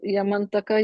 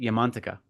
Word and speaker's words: Yamantaka: I say Yamantaka because that's how it should be pronounced in Sanskrit. It's Yama Antaka. Yama is death, and Antaka is destroyer or ending. So it's Yamantaka.